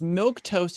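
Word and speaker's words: milquetoast: is infuriating me because milk toast is spelled m i l qu toast and it's just like but there's the food milk toast like it seems weird that it you know like so it must had this great origin of why it's spelled weird and why it's sounds the same as milk toast but the fact that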